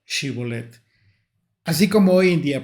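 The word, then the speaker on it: שיבולת: la palabra shibolet la palabra shib sino que pronunciaban la palabra sibet bueno esta palabra es una palabra hebrea que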